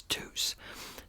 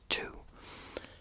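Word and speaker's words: Tous: that is it's t-o-u-s now I thought it was French so at first I was pronouncing it as Deuce then somebody commented it and said it was actually pronounced two the more I got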